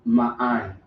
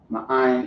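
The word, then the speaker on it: מאין: So ma'ain. Ma'ain is how you would pronounce that.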